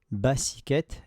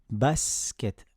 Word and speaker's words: basket: à la lettre S, je ne vais pas dire basket, basiket, ni basouket. Je dis basket. Je prononce seulement le son S.